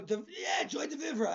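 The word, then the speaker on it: joie de vivre: How do you spell it? Joiedevre. Vivre. Oh, Joy Devivra.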